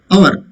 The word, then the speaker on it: hour: It's not hour, but it is hour.